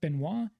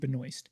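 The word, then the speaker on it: Benoist: It is a French last name that is typically pronounced Benois, but she her family pronounces it Benoy. More of an Americanized version of it.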